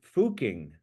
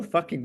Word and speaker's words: Fucking: So the name of the town in Austria was called Fucking, and Wow. is pronounced Fuking, I believe.